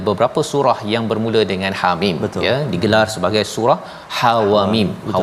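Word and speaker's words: حم: Jadi Hamim ini cara baca dia iaitu ha itu tak ada harakat, mana ha baris atas ha jangan panjangkan, jangan ha jangan panjang, ha tak ada harakat itu.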